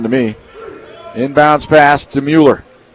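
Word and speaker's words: Moller: Inbounds pass to Mueller. Spelled M-O-L-L-E-R, but pronounced Mueller.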